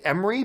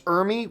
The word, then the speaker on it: Ermey: I used to say Emery, but then people correct me and says, actually, it's Ermey, whatever.